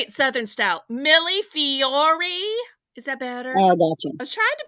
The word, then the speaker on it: millefiori: Millefiori.